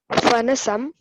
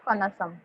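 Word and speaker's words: पनसम्: Draksha, यस Amram, Draksha, Kadali, Sevam, Kalingam, Madhukarkati, Narangam, Fanasam, Dadimam. Okay पनसम नॉट पनसम, पनसम। से it again Hitesh. Hitesh से it again पनसम।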